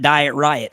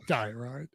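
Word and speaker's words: Diet Rite: I pronounced it Diet Riot for years without actually thinking it through. Diet Right.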